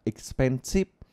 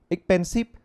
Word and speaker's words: expensive: là là Ok mà ví dụ luôn từ expensive thì mình nghe mãi là expensive thì mình cũng phát âm như vậy nhưng các bạn để ý đi Ngày Xưa kể cả mình thôi đều phát âm là expensip Thậm chí còn chữ x không phát âm chuẩn mà còn phát là x xpansit xpansit các bạn nghe này x-pensive và expensive nó khác hẳn nhau nhé các bạn nhé